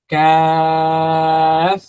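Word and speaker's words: كاف: Kaf. So between qaf and kaf, so difference. Okay, this is qa, qa, qaf. With this sound is very fat, but kaf sound is very thin and light.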